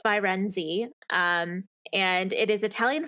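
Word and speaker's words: Firenze: i wasn't even anywhere near right um it's virenzi um and it is italian for the city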